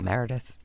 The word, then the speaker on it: Meredith: It's Meredith. It's 3 syllables.